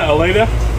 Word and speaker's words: alata: Okay, Nicotiana alata, or alata. Well, I think alata is actually the correct way to say it.